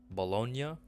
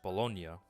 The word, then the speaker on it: Bologna: but pronounced baloney but the original italian pronunciation is like bologna bologna i think it's